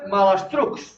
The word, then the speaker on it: malastrucs: Això es pronuncia malastrucs.